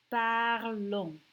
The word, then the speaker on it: parlons: Except for we don't pronounce the S. So I'm going to put like a little X through it. And it becomes nous parlons.